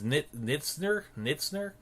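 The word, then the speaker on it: Knizner: I think his name is Knitzner. You probably don't pronounce the K, but he is their catcher of the future.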